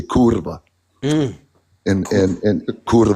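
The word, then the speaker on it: kurwa: I'll say it in Polish Polish we say kurva and and and like right so yeah if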